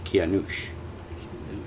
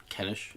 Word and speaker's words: Kianush: Zolgharnain is the American way to say it, but So my real name is Kianush. That sounds like Baba Ganoush. Well, my real name is Kianush. Kenish.